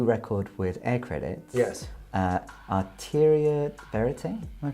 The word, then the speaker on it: Arteria Verite: It's Arteria Verite. That's a really hard thing to pronounce, but basically it's two languages. Yeah. One is Spanish, and the other one is French.